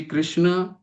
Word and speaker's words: कृष्ण: कोई कृष्ण कृष्ण का असली उच्चारण क्या है? कृष्ण। लेकिन कोई कृष्णा भी कहता है।